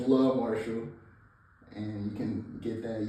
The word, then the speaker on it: Luh Marshall: So that's Love Marshall. I heard some of the people pronounce it their loves as like Lou. So this is Love. It's not Lou. It's Love Marshall.